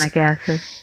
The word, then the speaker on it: hyaluronic: Hyaluronic acid. It's HYALUR. Mm-hmm. Hyaluronic.